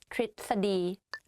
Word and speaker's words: ทฤษฎี: Okay, to tell you a secret, even I don't pronounce this word properly when I talk because it's very difficult to pronounce it like correctly. In daily life, I just say ทฤษฎี ทฤษฎี but it's wrong though. So the correct way of pronouncing this is ทฤษฎี ประพฤติ behave ประพฤติ behave.